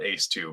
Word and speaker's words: ACE2: We just call it ACE2, but it's ACE is how it's spelled. Like like a fighter ace or something. fighter pilot ACE and the A2 receptor.